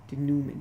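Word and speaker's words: denouement: of the story also sometimes known as the dumant the and o ue m e and T the Newman that's how it's pronounced a fancy term for a resolution so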